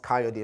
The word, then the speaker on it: Kayode: I said oh um your name is pronounced coyote like like and I think